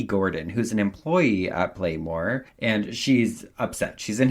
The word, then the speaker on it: Playmor: it, I was like, Playmore? Because it's spelled like Pla-MOR. But then I was like, oh wait, Playmore.